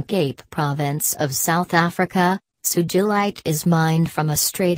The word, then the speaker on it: sugilite: as with most minerals its pronunciation is intended to be the same as the person it is named after in this case the